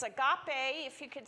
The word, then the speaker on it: agape: It's agape. If you could spell it out, it's A-G-A-P-E.